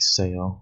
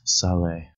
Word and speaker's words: sale: This is not pronounced like sail, like it's spelled in English. It's sale.